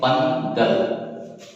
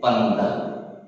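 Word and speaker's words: பந்தல்: এর উচ্চারণ হচ্ছে পান্ডাল। উচ্চারণ হচ্ছে পান্ডাল।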